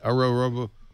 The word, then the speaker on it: Ouroboros: Ouroboros.